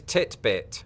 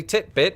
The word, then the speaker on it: titbit: pulling out today is titbit basically titbit which for those of you wondering rhymes with Fitbit is an alternate spelling